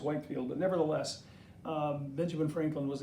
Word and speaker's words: Whitefield: a little boy but I learned to say Whitfield and I think that printer about proper pronunciation is Whitefield but nevertheless Benjamin Franklin